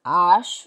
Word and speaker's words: H: treasure or measure j h is ash Ash. Ash. It begins with an A sound. Ash, not H because H is always silent in French.